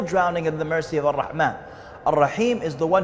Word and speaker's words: Allah: Allah rahman al rahim allah pronounced a double el exhale with love the creator